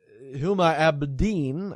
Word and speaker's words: Huma Abedin: But Huma Abedin, I believe, is how you pronounce her name.